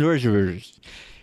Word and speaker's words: Wojtowecz: Super excited to be here on the show with my friend, Wojtowecz. That was perfect pronunciation. Wojtowecz.